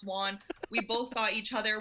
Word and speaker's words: Won: you won the game my last name is pronounced juan we both thought each